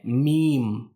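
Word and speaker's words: م: अब मीम को कैसे हम अदा करें, इसका प्रोनाउंसिएशन क्या है, इसको अदा करने का तरीका क्या है। तो मीम को सिंपल सा हम अपने दोनों होठों को मिला करके, यानी जो दोनों होठ हैं उसको हम मिला करके हम अदा करते हैं मीम।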